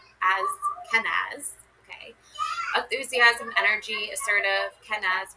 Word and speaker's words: Kenaz: Kenza. Pronounce. Ken as Kenaz.